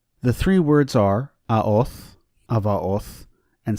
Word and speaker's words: Avaoth: I would like to note that I am using the Koine pronunciation of the letter Veta, so you will hear it as a V sound and not a B sound.